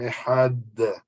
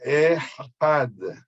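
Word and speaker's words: אחד: Sí, cuando uno dice Shema Israel, Hashem Eloquenu, Hashem Ehad. Ehad se termina con Dalet. Ahí cuando leemos el primer pasuk tenemos que tratar de alargar la pronunciación de este Dalet, Had, ¿ok?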